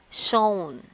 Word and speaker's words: shown: The word is shown, right? Because W is not pronounced.